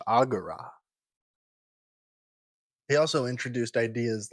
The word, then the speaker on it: agora: No more just shouting at each other down at the agora. future me here again it's pronounced agura.